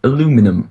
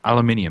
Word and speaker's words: aluminium: aluminium yeah no I don't yeah you do aluminum where's the alien aluminum no he says it's aluminium yeah but they do spell it differently as well you do know yeah